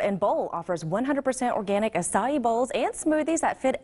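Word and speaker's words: açaí: Acai, is that right? Acai, yes.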